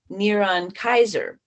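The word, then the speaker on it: נרון קסר: Well, the first century Hebrew spelling of the name Nero using English letters is NRWNQSR, pronounced Neron Kaiser.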